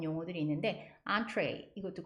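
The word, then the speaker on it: entrée: 근데 이거는 발음이 미국식 발음이 아니라 약간 프렌치 발음이에요. entree 이렇게 발음하고요.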